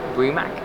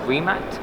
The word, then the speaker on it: Rimac: so the brand is not actually um pronounced bremack it's pronounced rimac but i'm guilty of pronouncing it wrong constantly